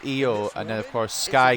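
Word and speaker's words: Iyo: ring name it's because people called her low shirai and now it's spelt more phonetically i y oh it's eo and then of course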